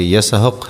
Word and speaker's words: اسحاق: الذریات آیت نمبر 30۔ اسحاق اصل تلفظ کے اعتبار سے یسحق ہے۔ یہ عبرانی لفظ ہے جس کے معنی ہنستا ہوا ہے۔ حضرت اسحاق علیہ السلام